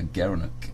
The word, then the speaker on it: gerenuk: gara gara knew gerenuk he pronounced as a gerenuk the gerenuk yeah you